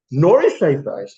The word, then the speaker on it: Neuschafer: Did I pronounce it correctly? Or do you say Neuschafer? How do you say it? Neuschafer. Oh, it's a good one. Neuschafer.